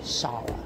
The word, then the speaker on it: Shara: Now, Shara. That's how you pronounce it. Shara. Oh, I'll be saying it wrong. So I want to apologize for not knowing the original. Because I've been saying Sarah.